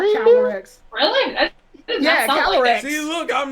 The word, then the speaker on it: Calyrex: Spell it. That's floating, KG. Calyrex. Calyrex. There's an R in there? Really? Yeah, Calyrex.